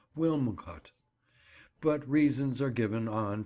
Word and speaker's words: Wilmcote: of the Shrew as Wincot. The name is locally pronounced in that way, as it would be when we consider the difficulty in ordinary rustic speech of twisting the tongue around Wilmcote.